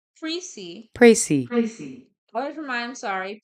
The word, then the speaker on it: précis: Preci looks like precise, and of course, you always want your preci to be precise, but the words are pronounced differently. Preci comes from the French word precis. So say it like this: preci. You can accent the other syllable preci. Okay, the S is only pronounced if the word is plural, precis.